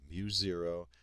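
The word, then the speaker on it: μ0: out to be mu0 that's how this is pronounced mu0 I over 2i R and mu0 is the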